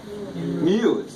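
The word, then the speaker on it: μ: Mu. I call it like a French cow.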